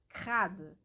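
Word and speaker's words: crabe: Depois, a segunda palavra, crab. Crab. E lembrando que o E que está no final da palavra crab, ele é um E bem sutil.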